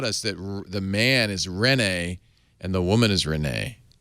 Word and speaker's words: Rene: I mean if you're if you're in Quebec you say reene but I mean that's totally no one does that so I'm saying it Quebec qua I'm saying with the accent on the n not the ren no you're doing it